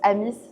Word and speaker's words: AMIS: Alors c'est ami puisque ça vient de ami à la base. Ouais. Mais on le prononce amis tout simplement parce que c'est difficile d'expliquer à tout le monde pourquoi le s est mu en français.